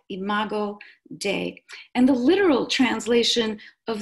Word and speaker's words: imago Dei: you as well so the term is imago Dei and des is spelled dei imago Dei and the literal translation